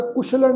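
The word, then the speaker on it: ਕੁਸ਼ਲਣਹ: ये जिहड़ा शब्द आ कक्के पैर औंकड़ ससे पैर बिंदी लगा के फिर लल्ला नाणा फिर हाहा अखर मुक्ता उच्चारण करांगे कुशलन है।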